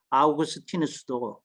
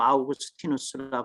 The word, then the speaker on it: 아우구스티누스: 영어로 그 미국 사람들이 제가 학교 다닐 때 늘 발음하는게 성창 혹은 성생 뭐 이렇게 이제 발음을 하더라고요 근데 가능하면 그 사람의 이름은 원음 그대로 불러 주는게 맞기 때문에 이제이 로마 사람을 그 영어식 발음으로 이렇게 불러 주는게 이게 타당성이 별로 없다 그러면 그 아우구스티누스 이제 관점에서 또 해석하는게 될 수 있으니까 이름은 이제 다소 불편하더라도 아우구스티누스 불러주는게 맞다 그다음에 이분은 아무래도 기독교